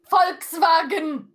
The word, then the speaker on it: Volkswagen: You know how to pronounce this? Folks vagen. Yes. Do I sound German to you? Volkswagen. Folkswagen. Folks. I'm not German. Who cares? It's a German car. I want to hear them say folks.